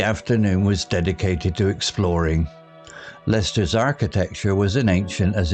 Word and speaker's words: Leicester: Lady Hermione agreed it would be splendid adventure with a map marked with peculiar names like Lester pronounced Lester and Gloucester pronounced Gloucester.